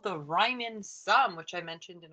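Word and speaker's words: Riemann: when we take the limit is called the Ryman sum which I mentioned in our last lecture on 51 actually pronounce that one correctly so definition two says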